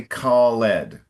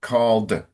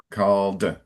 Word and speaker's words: called: and we don't say callled. Okay. All right. So when it's when you have the e d for past tense it's like just adding a d. So called called.